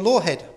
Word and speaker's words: Lawhead: But that changed in 1955, when Poharich met Charles and Lillian Lawhead, pronounced it right for a change, a couple who were prominent in the George Adamski UFO contactee scene.